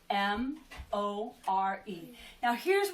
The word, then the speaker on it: more: too I do too here is the tricky part about the word more this is actually a silent e it's making that o say o more and it just so happens with the are there it makes it more so it sounds like the letter pair or but it's actually